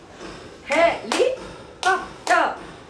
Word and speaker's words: helicopter: So there are 4 syllables.